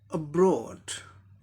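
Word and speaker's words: abroad: पहला example, अब्रॉड, अब्रॉड, और ये प्रीफिक्स लेबल हो गया, और ठीक इसके बाद वाला सिलेबल यानी ब्रो, ब्रो इस पे आएगा स्ट्रेस मार्क।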